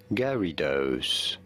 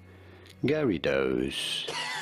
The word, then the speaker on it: Gyarados: official pronunciation is as gary does somewhat like gary and dos gary those gary facts